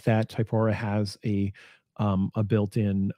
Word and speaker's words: Typora: of word count option and um i use typhora um i don't know that's fine i always get hung up on pronunciation i'll just yeah i'll say it again typora it's a it's a free open source app